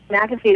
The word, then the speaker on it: McAfee: something and is am I pronouncing it right McAfee right is that how it's pronounced yeah McAfee is right so could that have helped me